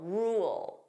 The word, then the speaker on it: rule: Notice here there are two sounds. We have r. So that dark l rule. Rule. So if I pronounce this fully, you hear those two sounds.